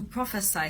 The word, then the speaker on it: prophesy: P-R-O-P-H-E-C-Y is pronounced as prophecy, and P-R-O-P-H-E-S-Y is pronounced as prophesy. So don't get it mixed up.